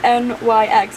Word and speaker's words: Nyx: Rhys and Feyre named the baby Nyx, N-Y-X, I think that's how it's pronounced, Nyx.